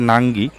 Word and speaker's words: নুঙ্গি: দেখুন, ইংরাজিতে লেখা আছে নাঙ্গি, আর হিন্দিতে যদি আমি বলি তাহলে নঙ্গি, আর বাংলায় নুঙ্গি। মানে তিনটের উচ্চারণ সত্যি কথা বলতে তিন রকম, বেশ একটা মজার ব্যাপার আর কি।